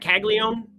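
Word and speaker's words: Caglianone: Jack Caglione. That N is silent.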